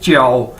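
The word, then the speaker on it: 叫: आपने पहले भी देखा है कि जे को हम चे के तौर पर इसको प्रोनाउंस करते हैं, यानी जे चाइनीज के अंदर चे के तौर पर प्रोनाउंस किया जाता है, बोला जाता है।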